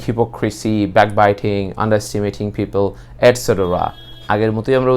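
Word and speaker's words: et cetera: আমরা অনেক সময় এটা ইটিসি বলে ফেলি, কিন্তু আসলে এটা হচ্ছে এটসেটরা, যেটা মানে হচ্ছে ইত্যাদি, ইটি অ্যান্ড সি, এই সংক্ষেপে হচ্ছে ইটিসি হয়, কিন্তু আসলে এটা ইটিসি না বলে আমরা সবসময় বলবো এটসেটরা।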